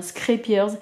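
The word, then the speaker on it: Scheepjes: se poser la question je vous assure que la prononciation c'est bien scripters ça veut dire navire en néerlandais parce que du coup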